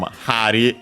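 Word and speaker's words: 針: Bari comes from Hari, yeah, becomes voiced because it's a compound as usual.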